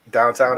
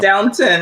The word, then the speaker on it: Downton: with that uh ian downtown abbey i've heard of it but i've not watched it that's the same thing it's downtown it's not downtown yeah there's no w on the second syllable but but yeah and